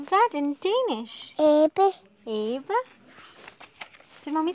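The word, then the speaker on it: abe: Ebbe.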